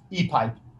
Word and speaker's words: Epype: created some new product i don't know how to say it epi e-pipe it's a easy way to say it but it's kind of a different way because it has a y instead of an i so it's e-pipe